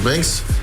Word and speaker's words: Binks: Ça se prononce Banks.